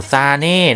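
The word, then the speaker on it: Sané: โอ้โห เยอรมัน rm โอ้โห ซาเน่ นะ ครับ นะ ซาเน่ นะ ครับ ไม่ ใช่ มาน่ นะ ครับ ซาเน่ นะ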